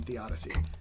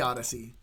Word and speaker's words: theodicy: So you can have all sorts of different beliefs and have different perspectives on theodicy. Not the Odyssey, theodicy.